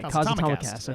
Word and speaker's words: Cosatomicast: Okay, Cosatomicast. Okay. Like Comcast.